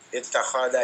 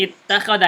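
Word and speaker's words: اتَّخَذَ: Jadi kalau ada kata kerja di 5 huruf dan 6 huruf selalu dibaca kasrah. Nih ya, contohnya misalkan ada kalimat seperti ini. Ittahada yattahidu. Iya, ini apa nih? Ittakhada yattahidu. Ittakhada ya, kasrah ya.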